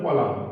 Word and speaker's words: column: তাহলে দেখো এখানে সি ও এল ইউ এম এন, যদিও এন থাকে এখানে এন এর উচ্চারণ কিন্তু হবে না, কলাম আমাদের উচ্চারণ হবে কলাম, এন পর্যন্ত। এন এর উচ্চারণটা এখানে উজ্জ্ব থাকে, সাইলেন্ট থাকে।